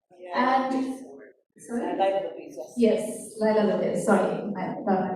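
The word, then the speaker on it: Leila Lopes: This was perhaps 2011-12 sometime, who was Leela Lopes. And sorry? Yes, Laila Lopez, sorry about my mispronunciation.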